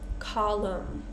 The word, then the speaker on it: column: The common pattern here is we have words ending in M-N. So this is our common pattern here for this silent N. We're just going to pronounce the M sound.